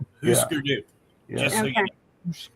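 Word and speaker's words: Hüsker Dü: That U with the 2 dots over it is pronounced oo. Husker Du.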